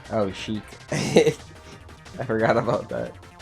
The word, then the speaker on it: Sheik: Oh, Sheik. I forgot about that. It literally rhymes with Shrek.